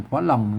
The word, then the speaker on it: ฝรั่ง: ก็ ไม่ พัด อ่าน ว่า ฝรั่ง เสียง เอง นะ มัน บอก ว่า นะ ครับ อ่า ก็ ปล่อย สัตว์ หลั่ง หรือ ฟ้า หลัง แล้ว ก็ มัน ความ จริง มัน ต้อง อ่าน ฝรั่ง นะ ครับ อืม ก็ อนุโลม ให้